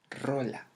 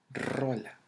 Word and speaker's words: rola: Now, the next word is the word rola. Rola. Rola. Rola. Yeah, I know you probably pronounce it like rola, but no, it's with more intensity in the letter R.